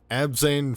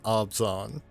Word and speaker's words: Abzan: Belothar, Dawn of the Abzan. Abzan. I've pronounced it Abzan for years.